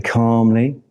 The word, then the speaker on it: calm: We say calm but it's spelled with an L.